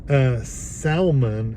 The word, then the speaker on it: salmon: Salmon instead of salmon. It's not the salmon. L is silent.